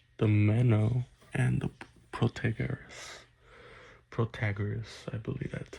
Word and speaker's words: Protagoras: Protagoras, I believe that's how you say it.